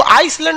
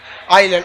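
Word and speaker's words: island: हैं क्या कहते हैं इसको आइसलैंड नहीं padhiyega आइलैंड आइसलैंड तो इस तरह लिख आएगा कुछ नहीं बोलता आपको लगता है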